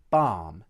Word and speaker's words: balm: Note also that the word balm does not contain an sound. Now watch as I demonstrate the words R, balm and bizarre.